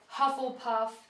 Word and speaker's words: Hufflepuff: the four Hogwart houses they're all pronounced the way they they look but I'm going to pronounce them just in case Gryffindor Ravenclaw Hufflepuff and and Slytherin I